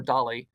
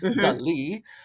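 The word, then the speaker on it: Dalí: I'm saying it right so for everyone out there that says Salvador Dolly I said it wrong too it's Del um they did a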